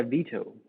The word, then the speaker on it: Vito: have a little boy vito is that how you pronounce it yeah veto like like the veto right yeah yeah yeah so